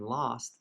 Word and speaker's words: lost: people have died also let's notice how the o and lost sounds just like the O and off but different from the O Andorian or coast lost off here next sentence